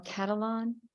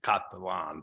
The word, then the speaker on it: Catalan: met before online yes it's actually my dad's from Northern Italy so it's really supposed to be caught the lawn but anyway um Senator